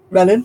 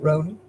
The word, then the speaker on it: Renan: Does your mum crochet a lot of mats or the fine cotton, Ronan? Renan, sorry, not Ronan.